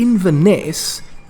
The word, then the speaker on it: Inverness: But you can't go to Inverness, key syllable being Ness, and not go looking for you-know-who.